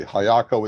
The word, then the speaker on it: Highako: register yourself for free hayako is spelled h-i-g-h-a-k-o just like it sounds uh we also have